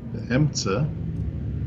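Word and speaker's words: בְּאֶמְצַע: Be'emtza.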